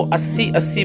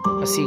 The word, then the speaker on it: अस्सी: ये अस्सी घाट है। अस्सी इसका जो शुद्ध उच्चारण अस्सी है, लेकिन लोग इसको 80 बोलते हैं।